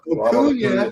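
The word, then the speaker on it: Acuña: his name sound like tuna, rhyme with tuna. Acuna. Yeah. Acuna.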